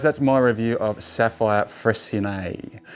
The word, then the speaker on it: Freycinet: review of sapphire fres so it's not frinet it's FR uh named after a French explorer I believe uh I did double check that to make sure that's how you say it correctly because some people even locals were saying freet uh but no it's fre uh so sa by